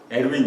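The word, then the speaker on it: Erwin: 아주 작은 입자, 원자, 그 안에 있는 뭐 전자가 들어가고 중성자, 양성자, 에르윈 슈레딩거, 영어로는 어윈인데 이 사람이 오스트리아 사람이니까 독일 발음을 해서 에르윈 슈레딩거라는 사람이 그 법칙을 발견했어요.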